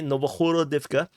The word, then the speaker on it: Novohorodivka: Yeah, I try to learn to pronounce it Ukrainian correct in terms of the pronunciation. But in Russian, this is just Novgorodovka. So anyway, Novohorodivka.